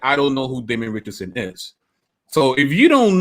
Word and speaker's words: Richardson: He says, oh, there's this guy, Damon Richards, and that's a lie. My name's Richardson, but you say Richards to mispronounce it, right, so that it sounds like you have no idea who I am.